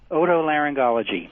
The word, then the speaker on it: otolaryngology: How do you pronounce that very long word? Otolaryngology.